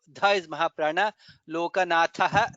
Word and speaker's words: लोकनाथः: In the second line lokabandhuhu dha is mahaprana, lokanathaha dha is mahaprana, madhavaha dha is mahaprana, bhaktavatsalaha bha is mahaprana.